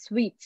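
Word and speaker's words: suites: hotel suite so s-u-i-t-e-s it's pronounced as sweets like mithai you know sweet meats uh three gigantic swimming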